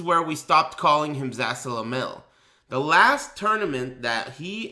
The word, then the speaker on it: Zasalamel: And I was laughing my fucking ass off because this guy was pronouncing the character's name Zazzmasol instead of Zasalamel.